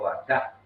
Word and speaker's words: vaca: nomás que el 90%, 99% de las palabras en guaraní son agudas, se acentúa la última sílaba. Entonces no hubo mucha vuelta y en vez de decir vaca le dijo vaca, vaca, y quedó, ¿no es cierto?